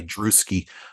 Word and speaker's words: Drewski: actually just go by druski uh it's a short for Andrews and we we all know how hard it is to say Andrews with the S uh but druski rhymes with bruski I have been slinging